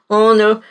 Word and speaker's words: honor: Grave apenas essas palavrinhas, porque embora eles sejam escritos com H, né, a pronúncia dele, você não pronuncia o H. Você diz honest, hour, honor.